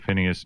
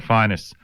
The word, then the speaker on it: Phineas: called The History of Phineas Newborn Jr. or Finest Newborn Jr. Uh equally uh correct pronunciations.